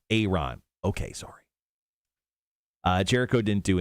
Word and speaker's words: Ayron: That's how you say his name, too. It's just not Ayron Jones. We got corrected, like right when he first came out. Is it Aaron? Ayron.